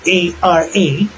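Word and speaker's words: χαρά: Ang spelling po niyan C H A R A and it is pronounced ara.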